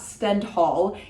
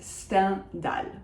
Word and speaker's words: Stendhal: It is not Stendhal, it is Stendhal. Or sometimes some people say Stendhal. I say Sten, so that is the nasal un plus dal. There is no H in French. There is no h. We just remove it completely from the word, just cross it out in your mind.